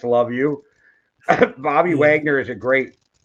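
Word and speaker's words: Luvu: just going to say it's probably not pronounced Lau but it's love you Bobby Wagner is a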